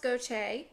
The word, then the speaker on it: Gautier: And it is pronounced Goche. I had to look it up because it looked like Gautier to me. But it is of French origin.